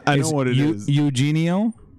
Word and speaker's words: Eugenio: Eugenio? Eugenio. Is it? Yeah, Jesus Christ. Every letter gets its own syllable.